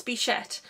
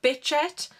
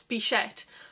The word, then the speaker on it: Bichette: a lot, and it's Bichette. And a lot of people call it Bitchette, but it's not Bitchette, it's Bichette. It's B-I-C-H-E-T-T-E, and I don't honestly know if that is French or another language.